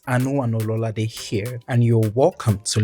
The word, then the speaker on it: Ololade: Ololade. But that's not your name is pronounced. It's pronounced Ololade.